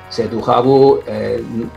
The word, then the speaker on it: Cetu Javu: Cetujabu, la pronunciación nuestra era de Cetujabu. Tenía que sonar un poco francés.